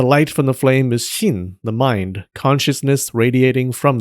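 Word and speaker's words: 神: In Japanese, they're pronounced sei, ki, and shin.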